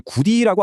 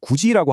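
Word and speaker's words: 굳이: 그래서 우리가 굳지를 구디라고 안 하고 구지라고 하고 가치를 가티가 아니라 가치라고 자연스럽게 소리내는 이유가 바로이 국의 음마 때문입니다.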